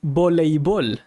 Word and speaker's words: voleibol: However, there are some people that pronounce the E. So they say voleibol, a jugar voleibol.